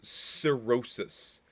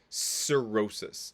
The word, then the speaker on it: cirrhosis: will see is called cirrhosis cirrhosis there's a lot of hard sea soft sea type sounds in uh the digestive tract so so cirrhosis is